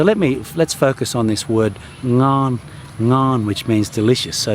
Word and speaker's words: ngon: to need to do if you want to nail the word ngon. I find the NG sound is one of the hardest things foreigners encounter, although I think it's mainly